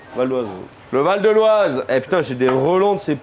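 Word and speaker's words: Val-d'Oise: Valdoise. Valdoise.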